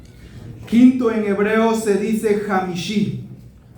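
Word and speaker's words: חמישי: Quinto en hebreo se dice Jamishi. Y Jamishi se escribe con una Jet, una Mem, una Shin, una Shin y una Yud.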